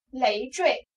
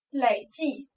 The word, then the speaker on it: 累: 多音字，这个字呢，它有三个读音，读作二声的时候就是累赘，读作三